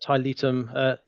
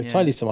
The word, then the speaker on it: Tiletum: It's the Latin word Tiletum, something like that. So Tiletum, I'm going to say.